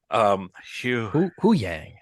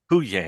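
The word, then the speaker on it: Huyang: Hu Yang. Hu Yang. Hu Yang. Hu Yang. Well, it's like who is that? Yang. Hu Yang. That should help you remember how to say it.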